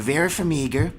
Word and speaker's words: Vera Farmiga: Number 2, I got Vera Farmiga.